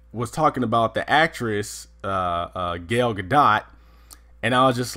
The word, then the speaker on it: Gal Gadot: and Ray was like he kept calling her Gayle gadot and he was like by the way it is pronounced gal gadot and she hates when you call her galled